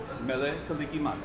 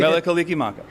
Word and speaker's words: Mele Kalikimaka: Mele Kalikimaka. How do you say that again? Mele Kalikimaka.